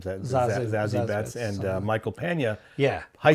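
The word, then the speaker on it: Zazie Beetz: Now the other one with Zozie Betts, or how do you say her name? Zazie Betts and Michael Pena.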